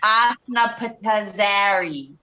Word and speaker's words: Osnapitzari: So it's Asna Patazari. Oh, what? Yeah, It was the right. one you could. How? It's spelled OSNAPITZARI.